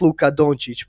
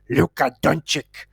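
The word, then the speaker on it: Luka Dončić: and don't talk about Luca donic first of all you can't even pronounce his name correctly all you keep saying is Luca dunic like a uneducated idiot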